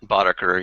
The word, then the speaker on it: Boddaker: Is that how you pronounce it, Boddaker or Boddaker? Boddaker, yeah, that was from my early LAN party days.